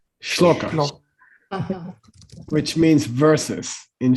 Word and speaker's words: shloka: Sholoka is the Tibetan mispronunciation of shloka, Uh-huh.